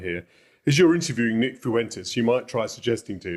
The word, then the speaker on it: Fuentes: Fuentes. Two syllables. That's it. Fuentes.